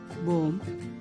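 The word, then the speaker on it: bomb: एक सही होता है बी साइलेंट का होता है जब ब एम के बाद और टी से पहले आता है तब भी साइलेंट हो जाता है तो यह सारे वर्ड्स में आपको बी को ब करके प्रोनाउंस नहीं करना है यहां पर आप इन वर्ड्स को ऐसे पढ़ेंगे वम कोम प्लमर बोम डम थम टोम क्लाइम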